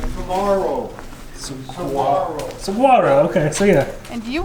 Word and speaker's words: Saguaro: one to Maverick saguru Saguaro how do you pronounce it like samaro Saro okay so yeah and you were right mommy